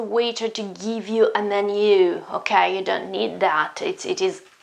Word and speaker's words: menù: First of all, menu is a strange word with an accent on the final U, okay? So pay attention to the pronunciation. It's not menu or menu, it's menu, menu, menu with the accent on the U.